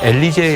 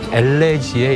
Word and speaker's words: 엘레지: 아까 유앵커님이 조금 발음을 잘못하셔서 예. 엘리제의 여왕이라 그러셨는데요. 네. 엘리제는 여성 이름이고요. 예. 엘리제를 위하여라는 김경호 씨의 곡이 있는 거고 예. 엘레지의 여왕입니다.